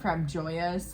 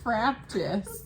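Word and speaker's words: Frabjous: Fraptus. Yeah. Like from Fraptus Day from Alice in Wonderland. Yeah, see, Yeah. I didn't know. I don't know. I used to call it Frap Joyous, and Lexi heard me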